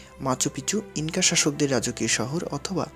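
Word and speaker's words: Machu Picchu: স্পেনীয় উচ্চারণে শহরটির নাম মাচুপিচু হলেও অনেকেই এর নাম উচ্চারণ করেন মাচু পিকচু হিসেবে, যার অর্থ পুরনো চূড়া।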